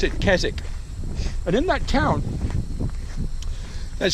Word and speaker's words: Keswick: to that is at a town are called Kazik it's spelt Keswick but the english people pronounce it kazakh but in that town there's several kind of